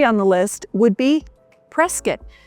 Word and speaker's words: Prescott: So number three on the list would be Prescuit. Now we don't say Prescott. That's what I always used to say for many years until I moved to Arizona. I'd say, "Oh, up in Prescott." No, it's Prescat.